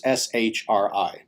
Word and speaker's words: Sri: of which is the term sri sri or sometimes shri pronounced as the latter in any case sri sri meaning auspicious or